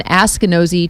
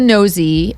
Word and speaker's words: Askinosie: Askinosie, A-S-K. Oh gosh. So like Ask a Nosy Neighbor? Yeah.